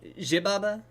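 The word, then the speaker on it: Xibalba: I mean, it is an X, and being pronounced like a Z is pretty acceptable in most cases. Now look, I'm just saying, if the Mexican filmmakers were okay with it being Zibalba, that's probably the way they wanted it said.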